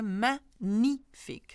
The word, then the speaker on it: magnifique: Another one I want to point out is the gene here, magnifique. So you ignore the G completely and you read it as in if it was not a G.